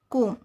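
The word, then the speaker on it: comb: जब एम के बाद और टी के पहले बी आता है तो बी साइलेंट हो जाता है। है ना? फॉर एग्जांपल एग्जांपल से समझते हैं अपन। जैसे कोम। यहां एम के बाद बी आया है। तो बी साइलेंट हो गया। तो इसको क्या बोलेंगे? कोम।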